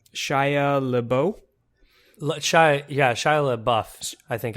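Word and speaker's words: LaBeouf: Lao sh yeah sh La buff I think I think it actually is pronounced buff I think you pronounce the F on the end so now are you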